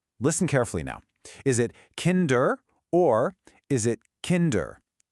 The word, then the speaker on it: Kinder: Is it kinder or is it kinder? H. Which one sounds right to you? Yes, you got it. The first one. The stress is on the first syllable.